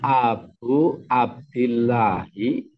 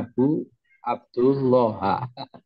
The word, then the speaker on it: Abu Abdillahi: pak Adi tadi membacanya Abu Abdullah makanya saya tanyakan lagi saya ulang lagi Pakde Abu Abdullah malah jadi ilmu jadi ilmu ini lebih mantap lagi Ini bacanya Abu abdillahi Abuya sama dengannya